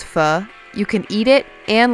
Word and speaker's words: pho: it's mispronounced so badly everyone says pho oh yes yeah oh thanks to the fur race fire yeah not only will you finally learn how to properly pronounce pho you can eat it